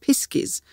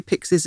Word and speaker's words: piskies: down to the Cornish piskies and I'm not trying to say pixes and mangling it pis Cornish piskies are a bit like pixes but it is actually spelled and pronounced differently but they are kind